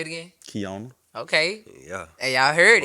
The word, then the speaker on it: Keyona: Keyona.